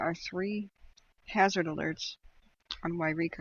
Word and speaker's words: Yreka: to choose Yreka from Eureka California is pronounced Yreka by the way there is a Eureka and that's on the coast it's different so I'm going to put